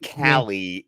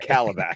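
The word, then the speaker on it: Kalibak: yeah a little funky it's not it's not cie it's Calla calab cabac sorry cabac yes cabac you been too long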